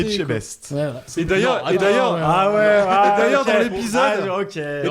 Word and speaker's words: Etchebest: épisode sur la gastronomie Estebech. Il sait pas le dire. Estebech. Non, Estebech. C'est bon, il l'a juste mal prononcé. Etchebest.